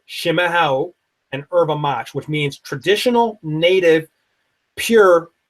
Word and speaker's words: erva mate: It's spelled erva mate phonetically, but it's pronounced erva mate, E-R-V-A.